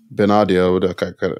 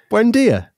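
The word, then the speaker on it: Buendía: Are you talking about Buendia? That's an easy name. Buendia.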